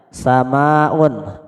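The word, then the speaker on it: سماء: Hai kemudian sama UN ingat bacanya panjang sama UN artinya apa langit kemudian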